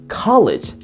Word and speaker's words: college: gotten to a college, 칼리지 아닙니다. 가에 해주세요.